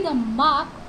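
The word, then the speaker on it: дом: तो जब हम इसे प्रोनाउंस करेंगे तो हम इसे दोमा नहीं प्रोनाउंस करेंगे, ठीक है? इसे हम बोलेंगे दोम।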